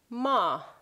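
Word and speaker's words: ماه: And then we get to the moon, which is ma, ma, one syllable, ma.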